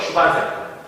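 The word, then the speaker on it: 슈반 세포: 슈반세포. 욕하는 게 아닙니다, 여러분들.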